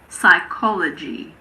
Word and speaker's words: psychology: Well, we don't pronounce P if it comes at the beginning of a word before an S. For example, pseudoscience, psychiatrist, psychic, psychology. It's also silent in front